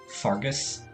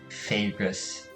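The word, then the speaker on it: Faerghus: I mean, just based off of the word, I would have pronounced it like Fagus. Fagus? At least Middle English had the ash as an actual vowel of its own.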